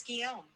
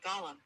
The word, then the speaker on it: Guillaume: Your name is Guillaume, but Joshua pronounced it Gollum.